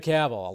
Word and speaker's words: Cavill: You know, I think a lot of people didn't know how to say his last name, but Henry Cavill, 11 years ago.